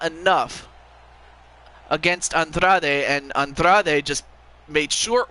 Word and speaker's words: Andrade: Oh, I thought it was Andrade, but, you know, again, I guess I forget